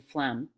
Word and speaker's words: phlegm: Man was like those silent letters they just learned about in English class, like the S in island or the G in phlegm.